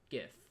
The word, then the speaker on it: GIF: So when he's the guy who created this format said choosy coders choose GIF. Anyway. That's the slang and how you remember the exact pronunciation of it. Although GIF makes more sense if you've seen it for the first time. Anyway, so the next clip